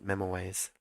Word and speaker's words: memoize: it does I feel I feel weird saying memo ways that's how you say it memories no definition found